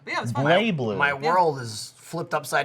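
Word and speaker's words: BlazBlue: It's actually pronounced Blay Blue.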